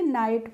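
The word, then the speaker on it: know: तो उसको क्या पढ़ेंगे नाइट पढ़ेंगे क नाइट नहीं पढ़ेंगे ठीक है कई वर्ड होते हैं जैसे के एन ओ डब् होता है तो उसको हम नो पढ़ते हैं नो नहीं पढ़ते हैं ऐसे ही होता है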